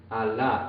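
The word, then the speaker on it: ἀλλά: Alá. Y otra vez, para recordarte, cuando hay doble L, doble lambda, se pronuncia como una sola lambda, L.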